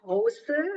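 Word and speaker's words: José: the original name is hoser right hoser that's pronounced yeah it's because he's a Spanish uh uh man originally yeah so H but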